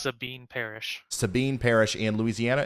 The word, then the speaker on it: Sabine: had a picture earlier of somebody right it's pronounced Sabine Parish Sabine Parish in Louisiana is under a